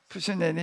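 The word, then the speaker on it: 傅斯年: 이거 중국식으로 한번 읽어봐. 예? 푸스년이 맞아요? 푸시년이 이렇게 중국 사람은 푸시년이라고 발음을 하는가 봐. 우리는 전기년 그러는데 그 사람이 한 그런 얘기.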